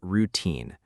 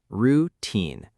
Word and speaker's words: routine: Let's start with the word routine. Listen carefully. Routine. The stress is on the second part.